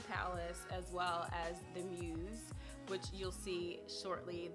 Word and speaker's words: Mews: as well as the Mews, which you'll see shortly. The Mews, M-E-W-S, is I believe it's how it's pronounced or spelled.